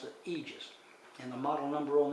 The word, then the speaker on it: Aegis: and it's with two e's and GIS they pronounce it Aegis and the model number on this is ae01